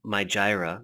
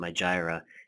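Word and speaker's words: Mijireh: but you notice this thing my Gyra that's actually how you pronounce it my Gyra and right here my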